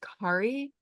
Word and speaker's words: Kari: And I do have to say, my name is actually pronounced Kari, rhymes with safari.